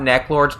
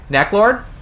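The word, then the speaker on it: Neclord: I necklord okay uh I'm sorry to tell you but a lot of people think of it as neck Lord okay you gotta Burns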